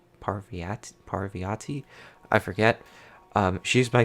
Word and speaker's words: Parvati: this name in the last mission I was pronouncing it like Pahlavi RT by thing it's like Parvati Parvati Parvati I forget she's my favorite character but